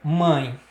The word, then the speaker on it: mãe: Você percebe que há influência nasal, há influência, há emissão de ar também pelo nariz, tá?